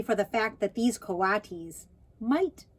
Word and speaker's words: coatis: "Oh, pronounced coatis."